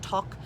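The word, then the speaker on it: toque: they wear which is called a um toc t-o-q-u-e it's pronounced tock has a hundred folds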